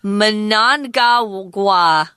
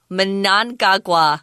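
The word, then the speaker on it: Mnangagwa: than the next guy his name is difficult to pronounce Manong gaga Manong gaga good try there say it very fast yeah it's real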